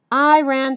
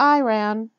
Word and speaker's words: Iran: be funny by chanting I ran to Iran Ian to Iran the correct pronunciation I always inform them is Iran I ran is a sentence I told them as